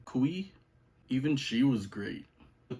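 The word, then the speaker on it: Cui: girl the actress's name I believe it's pronounced Kristen kui even she was great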